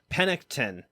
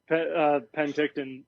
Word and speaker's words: Penticton: you and uh and i'm going to pronounce this so wrong panictin when we ride does that make sense to pronounce it right that's the penticton there we go nbc um i mean